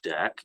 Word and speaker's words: deque: the deck interface and a deck pronounced deck interface is defined within